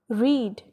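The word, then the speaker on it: read: ये स्पेलिंग्स इसके रीड ही हैं, लेकिन जब हम सेकंड फॉर्म या थर्ड फॉर्म मतलब सिंपल पास्ट या पास्ट पार्टिसिपल में इसको प्रोनाउंस करते हैं तो हम इसको रेड बोलते हैं। रीड, रेड, रेड।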